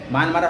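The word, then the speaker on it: Myint: kyat সবকটাই মোটামুটি কিছু ঘুরিয়ে ফিরে এরকম আছে মানমারা হয়তো কারেন্সিটা দিয়ে দিল ক্যাপিটাল দিয়ে দিল এরকম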